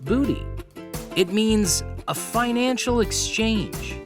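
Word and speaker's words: bute: Well, it actually comes from an old Germanic word spelled B-U-T-E, but it's pronounced booty.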